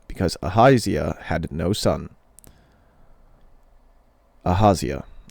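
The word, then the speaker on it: Ahaziah: Aazia. Ahazia actually is probably how that's better pronounced.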